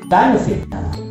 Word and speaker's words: benefit: Nah, benefit. Benefit. Nah, jadi kalau secara suara pembacanya seperti benefit, visit.